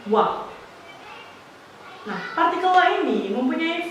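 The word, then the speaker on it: は: partikel Wow partikel ini ditulis dengan menggunakan hiragana H namun dibacanya adalah wah nah partikel wa ini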